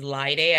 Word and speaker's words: Laide: start again with introductions my name is liay I always say rhymes with Friday um yeah so I'm